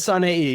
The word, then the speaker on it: Saneii: All right, Saneii. Good. Almost. He says Saneii. You got the three syllables.